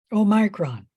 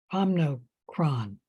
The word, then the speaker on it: Omicron: No, Omicron. Omicron. You can pronounce it both ways.